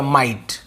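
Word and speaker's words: might: हम ITE लिख देंगे, तो ये हो गया माइट, वो तो गया, बोलने में भी सही है,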